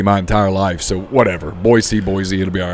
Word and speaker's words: Boise: still that we've mispronounced I've been saying Boise and everybody says it's Boise Boise yeah Ryan said it